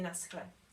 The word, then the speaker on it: nashle: And again, they would pronounce it nashle. That's the one we said sounds like the loch, like the ch in Scottish loch. So we would just say naschle to say bye-bye.